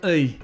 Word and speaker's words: и: not pronouncing it right It sounds very similar to the English "i" in words like "pit", "hit", "lit" ♪ I fell into